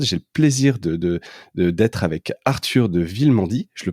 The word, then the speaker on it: Arthur de Villemandy: Alors pour m'accompagner dans cet épisode, j'ai le plaisir d'être avec Arthur de Villemandy. Je le prononce bien, Arthur ?